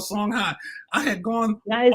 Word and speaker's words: Songhai: Their book is The Journey of the Songhai People.